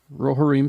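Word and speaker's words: Rohirrim: of the reform how do you say that rohareem thank you uh coming in 20 2024.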